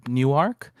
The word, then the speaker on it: Niuarx: This song was mixed by a very prolific mixer, Newark. It's spelled Niuarx.